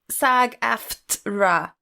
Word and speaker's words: SAG-AFTRA: But 3 syllables. SAG-AFTRA, right? Ugh.